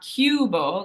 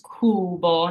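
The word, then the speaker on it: cubo: b o kuo so that U it's not CUO like the English U is more of a u sound in Italian it's kuo it's just that U and Kubo means Cube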